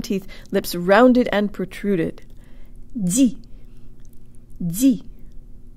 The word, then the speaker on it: ди: 2, put more air through on the de than you would in English. And 3, de-emphasize the E. Here we go. Jo tang lips. Di.